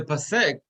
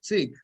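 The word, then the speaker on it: פסק: So the pasek, or the way the Ashkenazim call it psik, is a vertical line, right?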